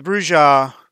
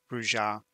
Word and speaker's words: Brujah: But the Brujah, I pronounce it that way because I grew up